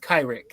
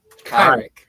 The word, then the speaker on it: Kyrick: It's pronounced Kyrick. Your character. Kyrick. Okay, gotcha. I missed the Kai part. I got the Rick part. It's like saying Kyrie.